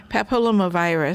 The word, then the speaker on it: papillomavirus: Papillomavirus.